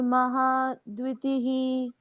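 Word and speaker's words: महाद्युतिः: महा शक्तिर महादति महाशक्ति महा द्वितीह महा शक्तिर महा द्वितीह महा शक्ति महा द्वितीह दतिह द्विती द्वितीह यस यहां पर भी फिर से द है डी वाई यू आधा द और यु दतिह दति तीसरा चरण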